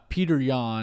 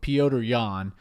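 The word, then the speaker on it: Petr Yan: I think Peter Yan and I might be saying his name wrong, but Piotr Yan.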